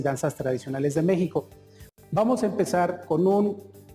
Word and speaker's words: México: Vamos a utilizar una palabra esdrújula, la cual se acentúa en la tercera sílaba. Entonces vamos a utilizar la palabra México.